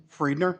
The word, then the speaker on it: Friedner: your left or right whoever hi I'm friedner I'm commercial real estate broker with Numark I live in Lindstrom okay uh your first name again and your last name friedener you want to spell that f r i e d n e